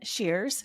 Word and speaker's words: Shears: the horrible person that I'm speaking with today is Shears. Did I get your last name correct there, the pronunciation?